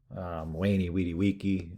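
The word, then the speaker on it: veni, vidi, vici: For example, Julius Caesar's Wani Widi Wiki, I came, I saw, I conquered. Kind of a mixture of the V and the U. Wani Widi Wiki.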